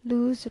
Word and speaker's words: luz: Everything is put into verse, sometimes doggerel, like the above, in which luz rhyming with Jesús shows that the z is pronounced here like an s, occasionally a little better, but always in rhyme.